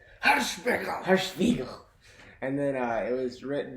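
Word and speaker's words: Hirschbiegel: So this movie was directed by a German director named Oliver Hirschspiegel. It was written You're by... not pronouncing right. It's Hirschspiegel.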